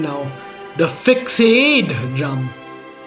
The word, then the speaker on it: Fixade: The Fixade drum. It's not that no one noticed the incorrect spelling, but rather that it gave it a certain sense of class. From simply being pronounced as fixed to fixade.